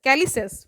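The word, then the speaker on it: calyces: projections कॉल्ड कैल्सी कैलिस कैलिस ठीक है इसका प्रोनंसिएशन देख लीजिए कैलिस ही है सी ए एल वाई सी एस इसका स्पेलिंग है द आउटर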